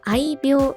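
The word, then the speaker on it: 愛猫: これは難しいですが、愛病と読みます。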